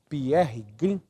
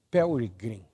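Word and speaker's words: Pearry Green: Mas ele foi escrito nós chamamos como entendemos aqui de irmão Pierre Green alguém nos disse uma vez que a pronúncia do seu nome era Perry Green então e ele escreveu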